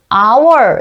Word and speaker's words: hour: 그 다음 에 오는 단어는 "our" 라고 발음 합니다 . 그래서 " 오우 " 라는 모음 소리 가 납니다 . 철자 는 자음 "H" 이지만 , 쓸 때 는 반드시 관사 "an" 을 사용 해야 합니다 .